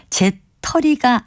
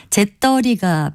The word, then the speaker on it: 재떨이: 있는 경우가 많기는 하지만 단백질을 받는 그릇을 가리키는 바른 단어는 제 털이가 아니고요 재떨이라고 된 소리로 표기하고 발음합니다 다시 말씀드리면 재떨이가 표준어고요 재털이는 표준어가 아닙니다 바른말 고운 말 아나운서